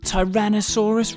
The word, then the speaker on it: Tyrannosaurus: Tyrannosaurus Rex how do you say that again ty ran no saw Russ Rex it's often called t-rex